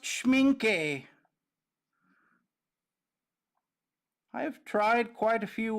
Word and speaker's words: Schmincke: Schmincke like Pinky. But it is pronounced Schmincke.